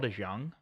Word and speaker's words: DeJong: At short, I have Paul DeJong. I think that's how you pronounce his name.